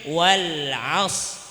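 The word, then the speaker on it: وَالْعَصْرِ: Sebelum huruf shad ada huruf ain. Wal 'asr. Ainnya barisnya fathah. Berarti ro-nya di belakang tebal. Berarti cara bacanya wal 'asr.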